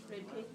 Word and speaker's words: repeat: p e a t how many syllables repeat two two repeat repeat repeat repeat repeat two two okay so syllables number they're two syllables and you stress the second r e p a